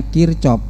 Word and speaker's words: Kirchhoff: Itu bacanya Kirchhoff, bahwa jumlah kuat arus listrik yang masuk, itu